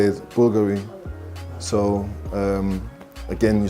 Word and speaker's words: Bulgari: How I pronounce it? So I'll just say the way that you're supposed to say it, Bulgari. So again, you say Bulgari, which is the way you did it.